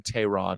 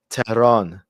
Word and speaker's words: Tehran: Tehran. Not Tehran. There's no cha. Tehran. They say it 3 syllables. They say Tehran. No, they don't, man. It's Tehran. Before Simigim, Tehran. Tehran. It's 2 syllables.